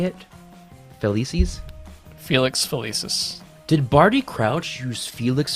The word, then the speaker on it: Felix Felicis: Crouch use how do you say It felices Felix felicis did Barty Crouch use Felix felici's in order to impersonate Moody did I say that right close enough use Felix felices felices yes Felix felicis in order to impersonate Moody subscribe to Fan